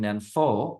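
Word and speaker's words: 念佛: They were saying Nenfo, which is the Chinese pronunciation.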